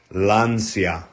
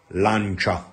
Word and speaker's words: Lancia: it Angela I guess you pronounce it lania instead in Italian is lancha chaa lancha and and uh how